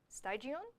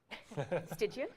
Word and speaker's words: Stygian: This is the Styanax Ravus skin by Malaya and Stygion. Stygian. That one's really pretty. You've got a lot of pronunciation.